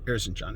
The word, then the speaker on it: Erzincan: Prior to World War I breaking out in Erzincan is the pronunciation, the home of Sogolmun Talerian, the place where his family lived and where his family was massacred during the genocide.